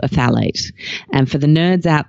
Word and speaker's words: phthalates: a pesky little endocrine disruptive chemical called a FAL eight and for the nerds out there who are